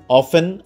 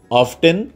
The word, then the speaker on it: often: তার মানে আমরা জানলাম অফেন, অফটেন দুটোই বলা যাবে।